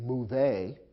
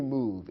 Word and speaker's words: move: the verb to move it ends with a silent e although the e is there we don't pronounce it we don't say move a in english simply move it's as if the